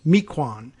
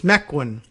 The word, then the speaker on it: Mequon: naming taxonomy might say was Mequon, but it's Mequon apparently out there in Wisconsin.